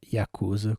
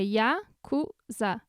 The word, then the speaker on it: Yakuza: Não é Yakuza, como todo mundo pensa.